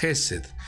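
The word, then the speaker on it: חֶסֶד: Bondad en hebreo se pronuncia Hesed y tiene un valor numérico de 72.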